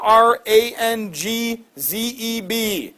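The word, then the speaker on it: Aurangzeb: have a picture of him Iran zip I'll spell it for you aur aur 8n Iran zebb aur ang Zeb Iran Zeb Iran zebra drawl the Mughal dynasty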